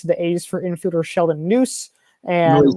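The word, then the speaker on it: Neuse: a's for infielder sheldon noose and right kind of wait how do you how do you pronounce it actually it's pronounced noisy i know really unusual noisy yeah yeah that's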